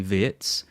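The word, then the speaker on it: Wirtz: Yeah, we need to talk about the pronunciation of words. Verts v. Well, I listen I listen to the pronunciation and he does say vitz, but when I was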